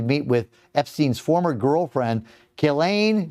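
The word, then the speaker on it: Ghislaine: is expected to meet with Epstein's former girlfriend, Gileain. Galain, how do you say it? Gelain. Gelain Maxwell. Gizlane. Gizlane. No, I think it's Gilain.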